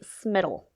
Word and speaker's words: Smittle: do her name Betsy smittle Betsy smittle smittle smittle spell that for me please like Skittle but with an M okay that's a great